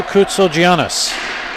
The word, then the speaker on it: Koutsogiannis: Coming up at the first period intermission, we will have a talk with Andrew Koutsogiannis. I asked him. That's how you pronounce it.